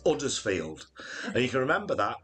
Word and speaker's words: Huddersfield: simple poem there was a cow from uddersfield this little cow it wouldn't yield the reason why it wouldn't yield it didn't like it's huddersfield there you go so now you know how to pronounce huddersfield question from worcester water